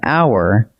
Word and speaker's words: hour: A unicorn, because it opens with a U sound, and an hour, because the H is silent.